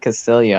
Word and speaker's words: Castillo: As everyone knows, I hate Castillo and I think he's a social fascist, but I'll just answer this question. Double A's are pronounced like ya in Spanish. Castillo.